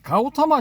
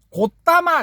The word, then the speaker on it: 고타마: 그런 것도 있지만은 이거 초기불교 하시는 분들은 가우타마 시타르타라고 발음하면 경기를 일으켜. 그래. 고타마 시타타라고 이래 발음해야 돼.